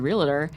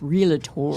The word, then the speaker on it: realtor: You said realtor, and it's realtor.